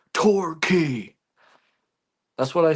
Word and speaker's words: Torquay: It's pronounced Torquay.